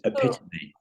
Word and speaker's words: epitome: the moment um the another word that I have really badly mispronounced is epitome right which is epitomy epitomy right so uh when for